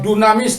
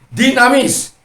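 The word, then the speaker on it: δύναμις: kuasa dalam bahasa yunaninya dikatakan dinamis atau Dunamis Dalam tulisannya tapi membacanya dinamis jadi dinamisnya Allah itu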